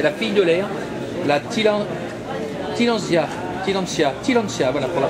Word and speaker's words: Tillandsia: C'est la fille de l'air, la Tillandsia, voilà pour la prononciation.